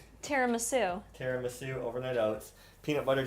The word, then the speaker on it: tiramisu: Teriasamu over Terasum. How do you say that? Teriu overnight oats. The way you're saying it now. I want to say it like tiramisu.